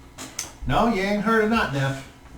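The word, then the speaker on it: Notnef: town was not enough that's what not now not neff not enough please spell that n-o-t-n-e-f that's what i thought thank you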